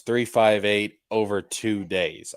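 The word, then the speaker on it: 358/2 Days: We got Kingdom Hearts 358 over two days. All right. And that is how it's pronounced.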